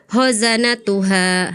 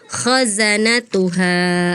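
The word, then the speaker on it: خزنتها: Misalnya tadi kakak eh khozanatuha harusnya khazanatuha seperti ya.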